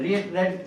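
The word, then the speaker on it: read: रेड रीड की तीनों form एक जैसे रीड रेड रेड। स्पेलिंग एक जैसी होती है। बोलने में फर्क है।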